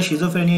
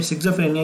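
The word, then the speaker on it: schizophrenia: major illness में सबसे पहले शिज़ोफ्रेनिया या सिज़ोफ्रेनिया, जो भी आप प्रोनाउंस करें, इसमें क्या होता है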